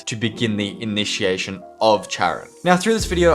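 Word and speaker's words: Charon: now through this video I am going to pronounce it the hand of Charan but in America I think it's the hand of Karen and in Greek it's the hand of Haron but I'm from Australia and we typically follow the British way of pronouncing words I have to simply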